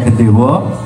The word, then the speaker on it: gendewa: yang kita sebut dengan gendewo tulisannya memang gendewa bacanya gendewo kemudian bagian dari gendewo